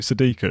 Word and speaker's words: Sadiku: This is from, what is it, Sadiku? Is that how you pronounce it? Yeah.